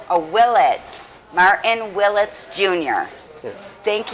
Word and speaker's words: Willitts: Willitts. Oh, Willitts.